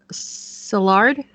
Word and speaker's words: Szilard: The concept of the cobalt bomb was originally described as a radio program by physicist Leo Szilard Szilard.